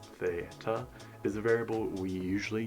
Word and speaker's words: theta: Again, it's pronounced theta, is a variable we usually use when we do not know that angle.